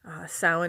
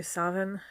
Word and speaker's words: Samhain: Samhain is the most common Irish pronunciation for it. It is different in Scottish Gaelic. I believe they do Samhain. They do the V for the MH instead of the W.